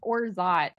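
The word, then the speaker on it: orgeat: said it right okay it's pronounced orot but it's spelled o r g e a t this is fun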